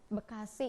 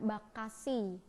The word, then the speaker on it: Bekasi: api Lemahabang ada bacaan Bekasi beach xie gitu ya Nah dalam pelafalan berikutnya masyarakat berikutnya Bekasi itu berubah menjadi Bekasi Bekasi itu sampai dengan